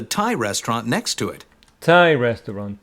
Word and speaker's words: Thai: restaurant next to it Thai restaurant Thai adjective for Thailand Tha restaurant and it's not pronounced th it is Tha I loved that place